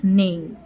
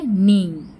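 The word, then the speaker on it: neigh: কি বলে ব্লেড বলে ডাংকি ব্রে এন্ড হরসেস নেই মানে ডাংকি মানে কি বলে দেখি গাধা হচ্ছে ব্রে আর হরস মানে ঘোড়া ডাকে নেই এটা উচ্চারণ জি এইচ মানে এখানে সাইলেন্ট ওয়ার্ড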